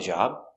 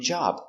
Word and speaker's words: job: Is he going to call you about the job? And the B in job, we don't say job. We pronounce it very soft. It's like a stop B. You make the position, job.